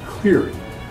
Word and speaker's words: Leary: It's pronounced Gastrocnemius, and my name is pronounced Cleary. Excuse me? Your name. You pronounce the C.